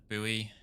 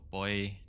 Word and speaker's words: buoy: we're gonna go for the nav buoy or boy depending on whether or not you're uh Australian or American when you pronounce that try and capture these